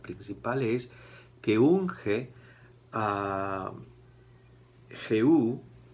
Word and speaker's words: Jehú: La principal es que unge a Jehú, Jehu, con acento en la U, como rey de Israel.